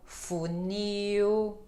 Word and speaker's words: funil: Laura lua lindo linda mas ela vai variar tendo um som de u quando ela está no final de palavra então Brasil legal funil Uhum Então som de